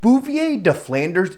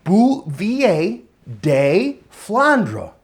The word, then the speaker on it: Bouvier des Flandres: Bouvier deflanders is pronounced bouvier de flandra.